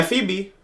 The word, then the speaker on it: Phoebe: Yeah, Phoebe. That's how it's pronounced.